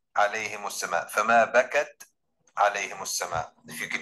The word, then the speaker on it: بَكَتْ: So you must say فَمَا بَكَتْ عَلَيْهِمُ السَّمَاءُ, فَمَا بَكَتْ عَلَيْهِمُ السَّمَاءُ, if you can hear that. All right, you have to like hold it a little bit.